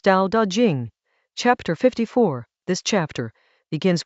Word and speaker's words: Dao De Jing: The Tao Te Ching, pronounced Tao Da Ching, chapter 54.